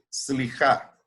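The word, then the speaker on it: סליחה: Pero en hebreo, una de ellas es esta, que es slijá. Aquí está en hebreo, en español, y ahí está cómo se pronuncia. Slijá, que es perdonar.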